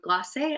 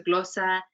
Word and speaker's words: glosa: It's a form called the glossa or glosse, I believe is how you would say it in English, or a gloss poem, but in Spanish it's a glossa, and it's an old Spanish form.